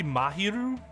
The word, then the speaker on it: Mahiru: listening wouldn't it just be mahiru like there wouldn't be a like a w draw there right because m a m a is just Ma like instead of Maw at least in the Japanese pronunciation unless they want you